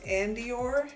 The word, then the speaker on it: Andoer: and it is so the brand is i think it's pronounced and your portable um background and it's spelled a-n-d-o-e-r and i spent about